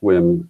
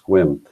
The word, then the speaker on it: Sequim: There's a little town called Sequim, pronounced Sequim. It's spelled Sequim or Sequim, it looks like, but it's pronounced Sequim.